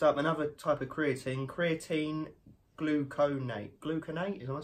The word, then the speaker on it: gluconate: Next up, another type of creatine gluconate. Gluconate, am I saying it right? Yeah, gluconate.